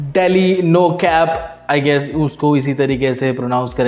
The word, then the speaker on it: DL9CAP: और नवा ट्रैक है डील 9 कैप मतलब daily no कैप I guess उसको इसी